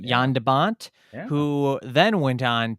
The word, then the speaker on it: Jan de Bont: So Roar, shot by cinematographer, and I correct me if I'm saying the name wrong, Jan de Bont. Is Oh, that correct? from the Netherlands, Jan de Bont. Yeah, Jan de Bont, yeah.